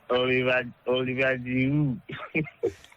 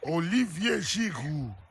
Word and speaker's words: Olivier Giroud: This Oliver Giroud. Olivier Giroud. But I mean, I know if you pronounce it that way, Olivier Giroud.